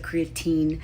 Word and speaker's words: creatine: Side note, some people pronounce it creatine, some people pronounce it creatin, potato, potato, you get the point.